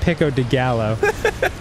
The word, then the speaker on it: pico de gallo: hate Tomatoes it's pronoun first of all it's pronounced pico de gallo and secondly yes I hate to I've always